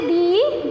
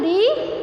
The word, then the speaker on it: the: इसको दा नहीं पढ़ेंगे, दा का हम लोग 3 तरीके से पढ़ते हैं, स्पेलिंग सेम है, कोई कंफ्यूजन नहीं, कोई चेंजिंग नहीं। द THE दा, THE दी, THE दी, consonant के साथ में दा पढ़ते हैं, वॉवेल के साथ में